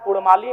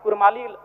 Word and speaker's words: कुड़माली: है ठीक उसी प्रकार कुड़माली में अभी कुरमाली र उच्चारण होता है वर्तनी में जबकि वह मूल रूप से पराओ की मान्यताओं की बात करें तो अड़ होना चाहिए और अंग्रेजी दस्तावेज में